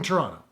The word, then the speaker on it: Toronto: Turns out he knows how to pronounce the word Toronto properly, because there's no second T in Toronto.